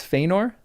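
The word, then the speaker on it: Fëanor: So it's not FOR, right? It's Fenor. But is that like more nasely or is that only at the beginning? For. Fenor. It's Feyenor.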